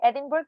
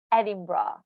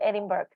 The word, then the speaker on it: Edinburgh: think uh usually non-native uh people would say edinburgh because they have no idea how people in uk pronounce this particular city however the correct pronunciation